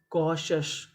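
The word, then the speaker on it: cautious: यानी आपको इंग्लिश में कहीं पर टी आई ओ यू एस लिखा मिले तो इसे पढ़ते हैं शश। इसे हम लोग टी एस नहीं पढ़ते। तो मीनिंग क्या बनी? कॉशस।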